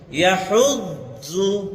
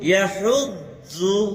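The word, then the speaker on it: يَدُعُّ: ইয়াহুদ্দু ইয়াহুদ্দু। একটা হলো আমরা বলি ইয়াহুদ্দু, দু বলি, তাই না? দু দু দু না, ইয়াহুদ্দু একটু নরম করবেন, পুরা নরম না।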